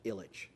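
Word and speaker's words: Ilitch: uh hockey and baseball team owners which is pronounced Illich.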